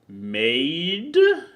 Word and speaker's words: Mayde: pronounce it right because it sounds like I'm calling you a maid it's pronounced like now